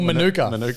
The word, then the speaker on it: Manuka: it quinn go on let's pronounce it monica overall or manuka for those that are a culture um we didn't we